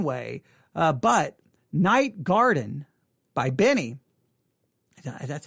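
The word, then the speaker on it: BENEE: to be listening to benny her her name is spelled b-e-n-e-e-b-e-n-e-e so when you say benny it just seems weird um but that is her name all right anything about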